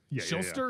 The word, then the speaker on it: Shuster: Schuster. I thought his name was Schuster.